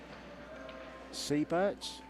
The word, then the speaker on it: Seybert: Seybert's?